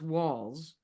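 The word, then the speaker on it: Walz: it if I can find it is Timothy walls Timothy walls pronounced walls and he is the governor of Min Minnesota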